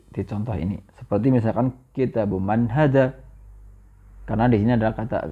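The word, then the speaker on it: كتابُ مَن: seperti baituiru seperti itu maka kitabu Man bukan kitabun Man di sini kitabu Man ya ingat kitabu Man tidak di kitabun salah maka dihilangkan thahnya thah tanwinnya menjadi thah saja kitabu Man kemudian yang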